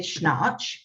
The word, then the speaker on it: Schnarch: So that's why you want to look at David Schnarch.